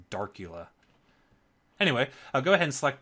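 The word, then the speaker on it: Darcula: the theme drop down check Dracula or darula not Dracula I always pronounced it Dracula in my mind but it's darula anyway go ahead and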